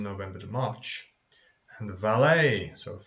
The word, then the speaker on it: valet: to March and the valet so French wars we don't pronounce the at valet like a ballet buffet just a member